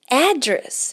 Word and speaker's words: address: Então, go to the address. E aqui a gente não está falando address, nós estamos falando address, ok? Então a ênfase, o stress, a sílaba tônica aqui é logo no começo da palavra.